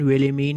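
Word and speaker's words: Wilhelmine: इस नाम की प्रोनाउंसिएशन विलिमीन ही होगी, तो एक का नाम तो विलिमीन है और दूसरे का नाम है पीटरकिन।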